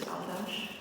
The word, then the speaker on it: áldás: But at the end of the second word is Aldash, where there's a single S, and there you say SH.